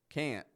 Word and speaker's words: can't: listening likely knows that those words are spelled with a t on the end p n t i don't pronounce that T I totally drop it off not only do we drop the T but we also pronounce the N much shorter than our regular n Sound notice I don't say